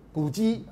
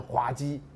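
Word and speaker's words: 滑稽: 古鸡啊，这个只有不会念的人念成滑鸡啊。我小时候大家都念滑鸡啊，结果呢大家都说错，应该念古鸡这样啊。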